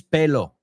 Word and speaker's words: pelo: The first word is pelo. Believe it or not, I've heard this word mispronounced incorrectly pretty often. Pelo. Okay? Pelo.